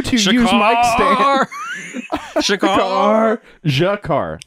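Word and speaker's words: G'Kar: Jakar. Jakar. Not Shakar. No, it sounded like Shakar. It is Jakar.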